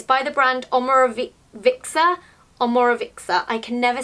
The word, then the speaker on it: Omorovicza: I got this on Cult Beauty, it's by the brand Omoro-- vicza? Omorovicza. I can never say it properly, it's-- It's a brand I struggle to pronounce.